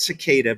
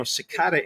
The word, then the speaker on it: cicada: do you say that it's well you say it cicada but Jeffrey steel once